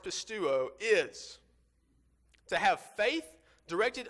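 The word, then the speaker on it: πιστεύω: The definition for the original Greek word, as is used in John 3:16, pronounced pistuo, is to have faith directed unto believing, or in faith to give oneself up.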